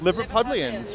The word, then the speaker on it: Liverpudlians: I watch like ads specifically built for Liverpudlians. Yes. Is that how you say it? Yeah. How do I even know Whoa, that? Whoa, Liverpudlians? Liverpudlians, right?